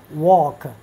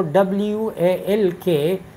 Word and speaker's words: walk: for example we say walk So W-A-L-K, we don't pronounce L or talk. We do not pronounce L in walk, in talk.